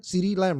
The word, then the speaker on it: CeeDee Lamb: CeeDee Lamb, right?